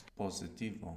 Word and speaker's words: positivo: Good, and you pronounced an S, where most English speakers will probably find themselves pronouncing a Z there, because in English we have positive, so that would probably transfer into Spanish to positivo, and we want to be careful not to do that.